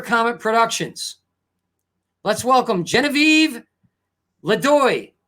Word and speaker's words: LeDoux: It was probably LeDoux. Yeah, no, you say it like this. Genevieve LeDoux, like that. It is LeDoux or LeDoux.